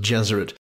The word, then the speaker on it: Gesserit: It is no accident that the pronunciations of Gesserit and Jesuit are similar, as he envisaged his maternal aunts and the Bene Gesserit of Dune as female Jesuits.